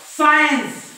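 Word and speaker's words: science: ही spelling सायन्स आहे तर इथं सी चा उच्चाराने सायन्स सायन्स राईट एस नंतर आय सायन्स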